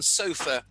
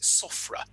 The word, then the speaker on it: SOFR: let's just stay on sofa uh um i personally would like to pronounce it sofra i tell you i tell you why because people think i'm talking about a sofa that one sits on every time i